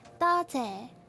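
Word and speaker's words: 多谢: 多谢 you need to make the Z sound. It's not YEH. It's not yeah. It's 多谢. It's similar to JE. It's like J and E and Z but mixed together.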